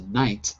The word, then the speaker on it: knight: as in mother the n and as a knight is silent now when i do these classes i